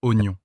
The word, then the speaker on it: oignon: d'abandonner après avoir vu oignon. Alors justement, parlons-en. Oignon. Pendant des années, on l'écrivait avec un i qui ne servait à rien.